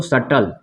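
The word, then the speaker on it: subtle: उसके बाद ये पढ़ेंगे इसको सटल।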